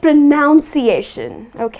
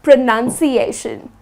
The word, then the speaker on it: pronunciation: People tend to say it pronunciation but its not pronunciation. It doesn't have - though the word would be pronounce or pronounced with 'noun' however the word pronunciation is spelt with nun and not noun and the correct way to pronounce is pronunciation just the way it is spelt not pronunciation but pronunciation.